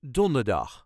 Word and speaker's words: donderdag: Of The Week is donderdag emphasis on donder donderdag donderdag Don der dag Donderdag Ik moet donderdag naar de tandarts I have to go to the dentist on Thursday donderdag then vrijdag slight emphasis